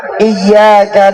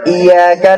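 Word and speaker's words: إِيَّاكَ: Kesalahan pertama, ketika bertemu di kalimat pada ayat iyyaka na'budu wa iyyaka nasta'in, membacanya masih ya-nya tidak ditasdidkan, jadinya kedengarannya iyyaka na'budu wa iyyaka nasta'in.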